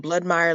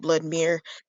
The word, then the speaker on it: Bloodmire: Bloodmire like vampire. Spell it the right way. It's not Bloodmere.